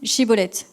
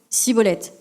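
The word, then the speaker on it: Schibboleth: on lui disait alors dis chibolette je te prie il disait cibolette car il ne pouvait pas bien prononcer sur quoi on le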